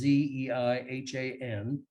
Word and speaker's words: Zeihan: It's that of Peter Zeihan. I think he pronounces his name. It's Zeihan. He's someone who has made a life work of studying, especially demographics and things related to the future.